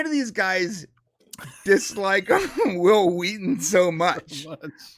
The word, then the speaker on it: Wheaton: Wheaton said uh will Whedon Whedon whatever will Whedon is um it's Wheaton by the way whatever well we you